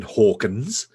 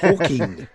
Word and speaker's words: Hawking: It's not Stephen Hawkins. It's Hawking.